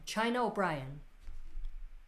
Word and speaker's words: China O'Brien: would be badass together oh now you said how you pronounce it china o'brien china brian china o'brien that's how you pronounce